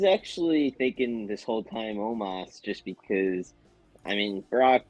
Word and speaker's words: Omos: I hate Amos so much. I have zero interest in anything. Why he doesn't say his name Omos.